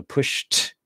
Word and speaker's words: pushed: can be confusing because you see an Ed but we know that's actually pronounced as a t sound because the sh is voiceless right so pushed but now the is